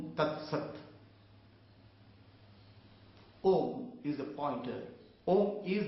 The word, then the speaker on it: Om: The Om has, when you pronounce Om, you pronounce A, U, Ma, Akar, Ukar, Makar, and that merges into silence.